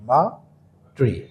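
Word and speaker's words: Matree: double E মা ট্রি এটা উচ্চারণ হবে মাট্রি এটা আমরা নামটা নিয়েছি হলো মাছ থেকে নিছি মা আর পোল্ট্রি থেকে নিছি হলো ট্রি দুইটা মিলা হয়েছে মা ট্রি আর কি এটা উচ্চারণ করলে অনেক সময় মাত্রীও বলতে পারে মাটিও বলতে পারে তো এই হলো আমাদের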